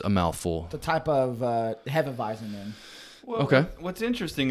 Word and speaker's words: Hefeweizen: Hopfenweizen? That's a Hefeweizen? Hefeweizen.